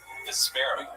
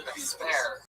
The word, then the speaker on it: Vespera: Vesper with an A at the end. Wow, that's a Vespera. Vespera. Everything with me is very hard to pronounce. My name, my band name, it's wonderful. So it's V-E-S-P-A... P-E-R-A. Vespera.